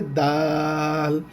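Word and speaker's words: دال: পিঠ কুজা যখন থাকে ওই অক্ষরটার নাম হবে দাল।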